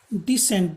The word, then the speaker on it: descent: डिसेंट, DESCENT, डिसेंट, DISSENT, डिसेंट, दोनों का एक ही उच्चारण है।